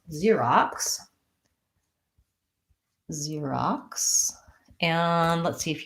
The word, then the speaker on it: Xerox: we say it mm-hmm Xerox I started writing at a K so it's spelled with an X Xerox and first syllable stress long short Xerox also but his additional